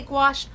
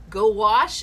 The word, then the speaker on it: gouache: Now, how do you say gouache? I say squash. Gouache. That's how I remember it. Squash. Gouache. Uh gouache. Gowash is how some people remember it.